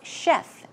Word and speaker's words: chef: then we have chef simple to pronounce chef chef as you would pronounce SH yep chef some other